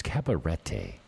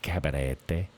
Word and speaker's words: Cabarete: It's Cabarete, not Cabarete. No, it's Cabarete. You start saying it like the locals say it.